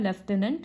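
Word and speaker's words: lieutenant: इसका प्रोनाउंसिएशन होता है लेफ्टिनेंट गवर्नर।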